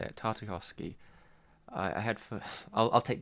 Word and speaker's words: Tartakovsky: Alright, Tartakovsky. There you go, that's how you say it. Tartakovsky.